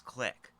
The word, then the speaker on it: clique: Yes, that's how they pronounce click.